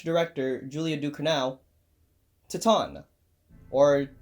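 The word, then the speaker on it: Titane: of the way so you too could actually pronounce this film properly titon is a really audacious movie it is the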